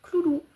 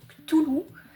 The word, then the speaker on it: Cthulhu: Et j'aimerais bien avoir un cloulou. Il y en a qui prononcent Cthulhu. Moi, j'ai toujours dit cloulou. Donc, chacun prononce comme il veut.